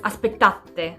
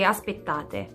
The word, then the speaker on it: aspettate: I could understand pretty much everything that he has to say, but he overpronounces words. He uses a lot of doubles. For example, he says aspettate, and we'd say aspettate.